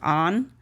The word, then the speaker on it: An: name is an but in Cambodian it's supposed to be a an pronounced on but when we came